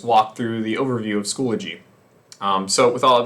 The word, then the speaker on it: Schoology: of clarifying the pd plan so schoology is pronounced schoology um not squalogy so schoology i know it's a very minor thing we're